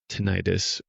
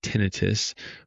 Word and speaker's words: tinnitus: field and decided to specialize in tenitis or what also is pronounced tenitus. Most doctors will say tenitus. Most lay people will say tenitis. So I'll say tenitis for this talk but both are completely okay and I specialize in